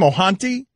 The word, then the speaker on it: Ohtani: How do we pronounce his name? Ohtani?